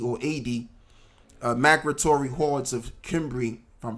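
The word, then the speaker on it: Cimbri: A.D migratory hordes of kimbri from pronouncing that word correctly is either symbi or kimbry uh to Tony and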